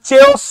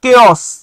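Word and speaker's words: chaos: there and social কেস এটা চেস না এটার উচ্চারণটা হচ্ছে কেস এইটা নিয়ে বাংলা ভাষায়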